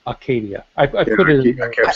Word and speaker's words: Acadia: ah Arcadia okay okay I was only emphasizing the a to deemphasize the r there is no R so it's Aradia I put I kep